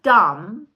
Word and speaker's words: dumb: So, because dumb had a silent B at the end and no one had explained that that's literally dumb and should have been let go of because no one pronounced it anymore.